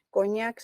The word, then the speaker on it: coñac: a ver, bíceps es grave, coñac es aguda. Bíceps. Bíceps es grave y lleva tilde.